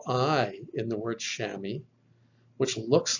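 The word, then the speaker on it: chamois: the omicron iota combination the omicron iota digraph is pronounced like the o i in the word shammy shammy now of course is actually a french word but it's been brought into the english language and here we have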